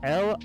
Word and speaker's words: Laredo: How you pronounce this, Miles? Laredo.